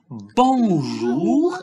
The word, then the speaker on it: bonjour: Alors, on dit, ici, on dit bonjour et pas bonjour.